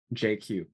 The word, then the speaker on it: Jay Kiew: their full name so that's how my name is pronounced JQ and you're not going